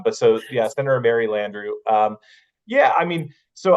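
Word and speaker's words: Landrieu: Senator Landrew, that's that's how you say it's one of those,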